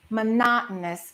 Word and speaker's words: monotonous: There are four O's in that word. So, we don't say mono. We stress the second syllable. Monotonous. And the o us at the end gets reduced.